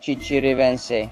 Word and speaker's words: Chichiriviche: Ah, look, Chichiriviche.